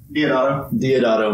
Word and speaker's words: Deodato: Deodato.